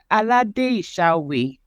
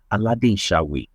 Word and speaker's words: Aladesawe: Okay, so it's pronounced Aladesawe. So it's Adesola Aladesawe. That's the way it's pronounced.